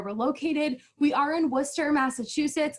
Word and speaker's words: Worcester: We are in Worcester, Massachusetts. I know it kind of looks like Worcester or Worcestershire. I've heard all the pronunciations, but we are in Worcester, Massachusetts, hence the name WPI, Worcester Polytechnic Institute.